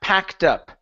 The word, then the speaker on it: packed: Here instead of packed, this is an a sound. This is a short a. Okay. P. Packed up.